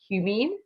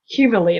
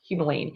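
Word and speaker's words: humulene: It also contains alpha humumine or excuse me it's alpha humalene. I can never say it right. It's alpha humolene.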